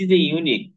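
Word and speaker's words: unique: হয়েছে এজন্য কি হবে এখানে এ হবে এ ইউনিক কেস এখানে ইউনিক ইউটা ইউ এর মত উচ্চারণ হয়েছে এজন্য এখানে কি হবে এ হবে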